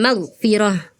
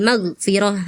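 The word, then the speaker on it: مغفرة: Wahlul magfirah. Wahlul maghfirah. Harusnya wahlul magfirah. Magfirah gitu ya, Kak.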